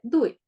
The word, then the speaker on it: Tui: Parece que la T se pronuncia siempre Du, por eso el Tao se pronuncia Dao y Tui se pronuncia Dui.